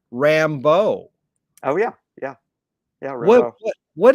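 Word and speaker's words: Rimbaud: that influenced everybody and i pronounce it i was told you pronounce it rambo oh yeah yeah yeah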